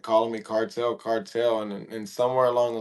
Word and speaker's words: Kartal: So I think of Vibes Cartel when you say that. But It's really when you say it like in English, like American, it's cartel, but it's really like cartel.